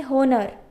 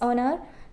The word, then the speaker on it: honor: owner we can't say honer it's owner okay it's honor so likewise here h is silent here h is silent